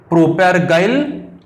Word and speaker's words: propargyl: इट्स IUPAC name is 3 chloro प्रोप 1YNE और इसका common name बहुत ही इंपॉर्टेंट है प्रोपैर PROPARGYL प्रोपैरगाइल क्लोराइड। इसका प्रोनाउंसिएशन आपकी तरह से करो PROPARGYL प्रोपैरगाइल क्लोराइड, ये आप नोट डाउन करो।